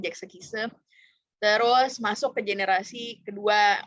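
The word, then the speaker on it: Sechs Kies: Generasi pertama itu HOT, terus God, Jack Sekise, atau tulisannya Sex Kiss tapi bacanya Jack Sekise.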